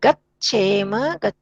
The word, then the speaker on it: गच्छेम: हाँ, बस थोड़ा सा उच्चारण में गच्छेम, गच्छेव, गच्छेम, च को ऐसे बोलना।